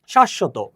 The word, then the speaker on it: শাশ্বত: তো দেখো, শব্দের মধ্যে বা শেষে ব ফলা থাকলে যার সাথে ফলা যুক্ত আছে সেই বর্ণের উচ্চারণ দ্বিত্ব বা দুইবার হবে।